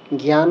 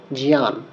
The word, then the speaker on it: জ্ঞান: কারণে জ, ইয়, জিয়া, অর্থাৎ যেটা আমরা জ্ঞান বলি, সেটাকে এখানে শুদ্ধভাবে বলতে হবে জিয়ান।